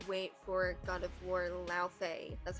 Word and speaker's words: Laufey: It was such a good game, and I cannot wait for God of War Laufey. That's how you pronounce the name.